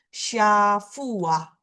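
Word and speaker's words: שבוע: Week itu kita menulisnya adalah syafua. Bacanya dia dibunyikan ah seperti ini.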